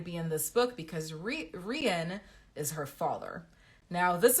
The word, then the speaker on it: Rian: My brain is seeing rain, but it's R-I-A-N, right? So I look it up, and lo and behold, you can pronounce it both ways, Rian and Ryan. And Rian is the one I'm going with.